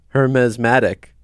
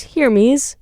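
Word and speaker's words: Hermès: what I just realized I've been pronouncing it wrong you were we were both wrong what is it it's heres heres like here's me please uh Shoppers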